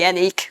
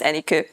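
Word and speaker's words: Anikó: so you can just call me anik because that's just simpler for everybody but it's actually pronounced any coup and that's about it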